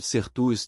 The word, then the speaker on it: certus: E a pronúncia correta de certus é com o som de K, não o som suave que o senhor utilizou.